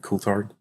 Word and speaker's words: Coulthard: And I think a lot of people will understand what I'm about to say, but long story short, Ross Coulthard, is that how you say it? Coulthard?